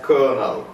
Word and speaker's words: colonel: write see you and the colonial but we pronounce it as Colonel similar is the case with love Jeanette the